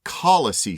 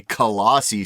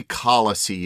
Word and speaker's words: Kalasi: um unlike our American style pronunciation the correct pronunciation is actually kisey sellers uh it's from the thelu language in